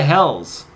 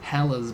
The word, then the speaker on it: Helles: is it Hell's Bells or Highway to Hell's? Hell's is spelled in both circumstances Helles. ES. Oh, okay. Hell's. Not Hell's. Hell's. It's a subtle difference.